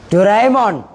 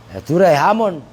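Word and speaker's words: دُرَيْهِم: Doraemon. Dirhamun tasghirnya apa? Loh, Duraihimun. Dirhamun, Duraihamun iya. Duraihamun, bukan Doraemon.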